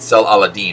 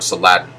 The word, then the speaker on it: Saladin: of the time period sel alladin or saladin depending on who you listen for the pronunciation um and so sullivan